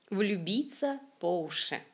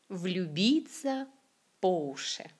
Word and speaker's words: влюбиться по уши: Donc уши, l'accent tonique est effectivement sur la lettre ou, mais cette expression se prononce comme écoutez, влюбиться по уши. Влюбиться по уши. C'est comme on fait l'accent sur la préposition по, pas sur le substantif уши.